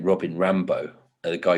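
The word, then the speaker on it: Rimbaud: robin ram i only just learned how to pronounce his name robin rambo a guy called scanner so yes like he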